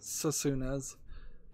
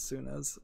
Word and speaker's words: Senua: I mispronounce it Susuna's Sacrifice, but it's Suna's.